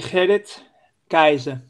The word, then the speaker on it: Gerrit Keizer: The correct pronunciation would be Gerrit Keizer, but that's obviously with the hard G that we pronounce here in the Netherlands.